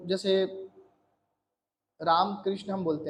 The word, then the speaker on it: राम: आता है है ना जैसे अंग्रेज लोग क्या करते हैं राम की राम राम जो उच्चारण आ रहा है उसकी जगह वो क्या उसको बिगाड़ के क्या कर देते रामा कर देते आकार कर देते हैं दीर्घ आ का स्वर ले आते हैं उसकी जगह उसमें हस्व